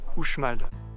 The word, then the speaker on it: Uxmal: On visite ensuite le site archéologique de Uxmal, attention qui s'écrit avec un X, mais ça se prononce Uxmal.